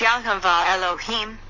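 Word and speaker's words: יהוה אלהים: there of white light vibrate and halo him pronounced yahuveh elohim four times this is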